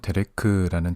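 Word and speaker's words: דרך: 오늘은 히브리어 데레크라는 단어를 알아보려고 하는데요. 히브리어 데레크는 이렇게 생겼습니다. 이것은 한글로 데레크 또는 데렉이라고 읽고요.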